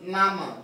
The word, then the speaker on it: Nama: This one is pronounced Nama. The other one has a tuna mark.